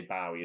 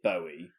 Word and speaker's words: Bowie: I think I say Bowie as well. I know it is Bowie, but then I feel pretentious saying it now. I I I read an article recently that said Bowie rhymes with Joey, so it definitely is David Bowie.